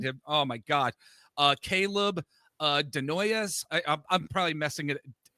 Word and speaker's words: Desnoyers: Caleb Denoyes. I'm probably messing it. Denoyes? Desnoyers, I I would say. stink. Oh, of course. I'm putting the S in there.